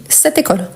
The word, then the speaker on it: cette école: Donc, on dit cette école. On fait la liaison automatiquement.